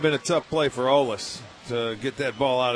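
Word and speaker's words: Olise: His first name is spelled O-L-I-S-E. Want to take a stab at that? Swing and a miss. Hold on a second. O-L-I-S-E? Olis? Olis? Yeah, that's close enough. I believe it's German.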